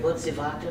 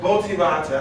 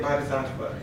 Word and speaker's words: Bodhisattva: I've been pronouncing it phonetically. What is it? Botsivata. Botsivata. I say it Bodhisattva. Botsivata.